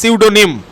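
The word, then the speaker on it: pseudonym: প্রথমে যেটা বলেছে, দেখো প্রথমে বলছে সিউডোনিম। এই সিউডোনিম মানে হচ্ছে ছদ্মনাম, ঠিক আছে, গোপন নাম, সিউডোনিম। তারপরে যেটা দেখতে পাচ্ছ এখানে কিন্তু পি এর উচ্চারণ হয় না, এটা হচ্ছে সিউডোনিম, ঠিক আছে।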